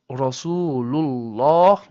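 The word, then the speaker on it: رسول الله: example, in Rasul Allah, Rasul Allah. Again, the lam of the word Allah becomes heavy because of the damma before the word Allah on the lam of Rasul.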